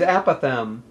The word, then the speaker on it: apothegm: 2019 here Virginia is a Pithom it's a noun eight letters three syllables and this is a